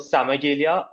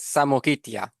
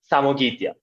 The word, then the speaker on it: Samogitia: would be fighting is around this area called Samagelia. I think that was the correct way it's pronounced. Simon, keep me honest. It is pronounced as Samogitia. Samogitia.